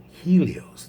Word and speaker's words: Helios: greek so uh here's a good one helios helios the sun well in greek it's pronounced helios me and finally bacchus a